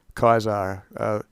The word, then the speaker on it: Caesar: Et tu nu Caesar, Kaiser. Things like Cicero and Caesar, though has a hard C.